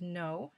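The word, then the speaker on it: Noh: doesn't matter who we are but that's definitely not true in the east even today for example japanese no it's pronounced no drama is precisely performed and ceremonial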